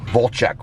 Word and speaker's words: Vlcek: You even said it right. Volchek. Well, it's spelled V-L-E. It's V-L-C-E-K.